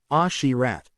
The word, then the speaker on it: Asherat: Asherat may be read as Ashirat.